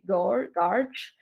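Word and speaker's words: GOARCH: We pronounce this as Goose. And this is the Go architecture, but we say Garch.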